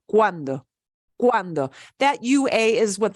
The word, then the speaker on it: cuando: So cuando, wa. We pronounce both those vowels. We just kind of slide them together as much as possible. Cuando, cuando.